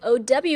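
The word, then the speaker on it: ao: A o in ping sounds like o w as in how or o u as in ouch.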